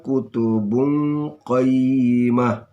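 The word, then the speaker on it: كتب قيمة: Ini tanwin bertemu qa, namanya ikhfah, ya, dibaca samar-samar. Kutubun qa. Ini jangan kutubun ka, tapi bungqa, ya, dibaca samar-samar. Fiha kutubun qayyimah.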